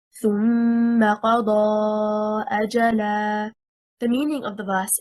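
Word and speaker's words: أجلا: The correct stress is on the first حركة, حركة الهمزة. If we say أَجَلًا, stressing on the second حركة, حركة الجيم, we separated the word into two.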